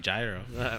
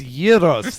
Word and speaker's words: gyros: love me some gyro. What? Get out of here. It's gyros. The G is silent.